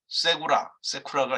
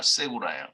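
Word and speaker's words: סגולה: 세쿠라가 아니라 세구라예요.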